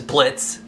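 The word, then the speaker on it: Blitzø: boss his name is blitz the o is silent is voiced by the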